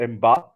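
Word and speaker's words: Mbappé: Like in But this what about episode in this Mbappe?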